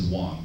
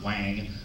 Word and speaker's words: Wang: in some Kim my my last name is Wong W NG pronounced Wong the reason why wng is Northern China W is Southern China but it's all pronounced the same so it's not Wang only in America do